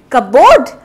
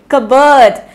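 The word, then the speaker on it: cupboard: कपबोर्ड। बिल्कुल गलत। सो कप नहीं, बर्ड। यहाँ पे आप लोगों को ध्यान रखना है, ये कबर्ड।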